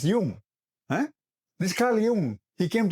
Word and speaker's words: Jung: These Americans can't even say Carl Jung; they'll say Carl Young. You know? Bloody hell, learn to say his name, man—he's a Swiss guy. No "Young" there—it's Jung.